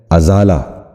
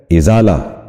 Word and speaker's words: ازالہ: درست تلفظ ہے ادارہ۔ آج کا چوتھا لفظ ہے ازالہ، جو غلط تلفظ ہے۔ درست تلفظ ہے ازالہ۔ ایک بار پھر سنیے،